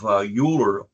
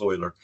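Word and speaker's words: Euler: by the name of uler pronounce oer um oer came up with about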